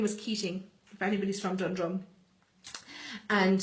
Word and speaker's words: Keating: And her name was Keating, if anybody's from Dundrum. And she, or Caton, as we pronounce it in Tipperary, it's spelled Keating, it's written down as Keating, but we pronounce it as Caton.